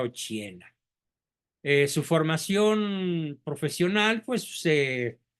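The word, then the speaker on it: Occhiena: mamá se llamaba Margarita ochena ochi con doble c se pronuncia ochena su formación profesional pues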